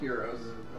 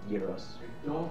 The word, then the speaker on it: gyros: Also, I'm pretty sure they're pronounced gyros. They're gyros. They're pronounced gyros, but I don't...